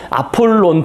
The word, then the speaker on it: 아폴론: 여기 아폴로라고 그냥 영어 발음 그대로 썼는데요. 아폴론 분수, 베르사유 앞에 있는 아폴론 샘이라고 돼 있죠.